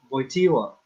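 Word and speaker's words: Wojtyła: yeah i think um you know jp2 voitiwa is that how do you say it yeah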